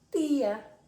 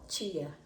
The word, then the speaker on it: tía: Entonces tenemos tate, totu, pero chi en portugués, ti en español. Entonces tenemos tía, no chía. Chía, portugués. Tía, español.